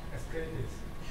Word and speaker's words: Ascletis: Jingzi Wu, who is now CEO and president of a new company called Ascletis. Did I pronounce it right? Ascletis.